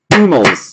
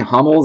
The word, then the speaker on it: Hummels: You got yourself a 10 of 10, Mats Hummels. I've been saying Hummels. I've been told I need to be pronouncing it Hummels. Nicht Hummels, Hummels.